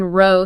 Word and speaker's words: row: The word for a line row sounds like flow. It's smooth row. The word for a fight row sounds like ow. It sounds like pow.